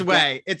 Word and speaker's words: OUAI: It's Way. They're really, it's spelled like OUAI.